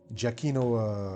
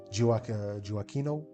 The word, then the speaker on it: Gioacchino: So fast forward to the 18th and 19th century, gifted musicians like Mozart, Carl Maria von Weber, Giacchino Rossini, I think that's how it is pronounced, Gioacchino Rossini, and others did something peculiar.